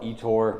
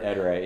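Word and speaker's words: Ettore: Some people call it Etor, whatever. The company pronounces it Eterade.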